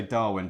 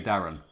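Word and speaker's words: Darwen: dad grew up in we would say Darwin down here I think you would probably say Darren I believes I believe that's the way Lancastrians pronounce it I think better yeah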